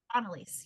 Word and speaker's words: Anneliese: while uh we're listening and talking um it's anaise did I say it correctly Analise yeah yep and st's my maiden name it's